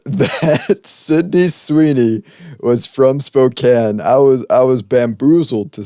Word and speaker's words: Spokane: It's called Spokane.